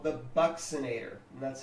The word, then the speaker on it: buccinator: Another mastication muscle is what's called the buccinator, and that's how that's pronounced, the buccinator.